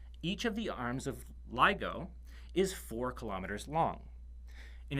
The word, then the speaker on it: LIGO: Corie whose acronym is lig Oh pronounced LIGO or sometimes legal these are two massively